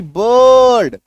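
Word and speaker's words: bird: बी आई आर डी, बर्ड, तो अ छुपा हुआ है।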